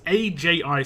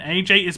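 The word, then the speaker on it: ají: how to pronounce it it's a j i so like Aji is how I pronounce it Aji Verdi v-e-r-d and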